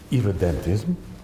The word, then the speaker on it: irredentism: Irredentism is How do you say it?